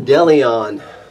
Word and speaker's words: Dillion: cleaner okay so I'm going to pronounce this brand of Deleon I think that's what we're looking at d-i-l-l-i-o-n so we went on